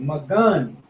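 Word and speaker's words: מגן: Magan, right? H4043. And with that, you did good. So, sword, karab, shield, magun.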